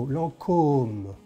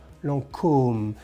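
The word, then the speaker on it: Lancôme: going to mars market because lancome hello you see there's a little hat on the oh so long comb lancome it's like for example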